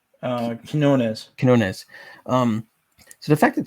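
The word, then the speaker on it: Quinones: art would be by joe how do you pronounce that last name uh he's known as kinones um so the fact that sam ham is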